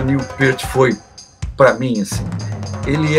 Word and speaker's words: Neil Peart: Antes a gente falava Neil Peart, agora a pronúncia certa é Neil Peart.